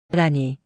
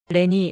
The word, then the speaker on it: 라니: 라니. 한글로 적으면 정확한 발음이 나오거든요. 예전에는 제 이름을 란이라고 적었는데 외국 사람들이 라니라고 부르지 못했어요. 레니 레니 라니 다 이상하게 불렀죠.